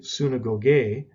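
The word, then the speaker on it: συναγωγή: after that is the word for synagogue hey suna gogay is how we would pronounce it and it's virtually transliterated into english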